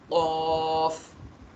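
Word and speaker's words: ق: क़ क़ क़ क़ाफ़ क़ाफ़। जब इसको आप प्रोनाउंस कर रहे होंगे ना, यहाँ बैक साइड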